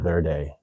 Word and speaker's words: Verde: Yeah, Verde. Yes, sure. I mean, that's how it's spelled.